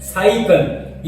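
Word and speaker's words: cycle: अब हम देख रहे हैं कि ये जो पहले वाला लफ्ज़ है हम इसको प्रोनाउंस करते हैं साइकिल। ये जो सी है ये सीन की आवाज दे रहा है साइकिल, और अगला जो सी है ये काफ की आवाज दे रहा है।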